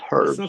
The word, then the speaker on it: herbs: Because people go, "Oh, herbs." And I go, "No, no, no, no. It's herbs. It's spelled with an H.